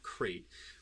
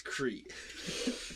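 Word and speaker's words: Crait: Because I used to always say crate wrong. No, I just said it wrong. Every time you would say crate, I'm like, I'm pretty sure it's Crete.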